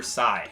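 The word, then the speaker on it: Psi: that don't know it's a Greek symbol and it stands for Sai that's how you pronounce it so s I did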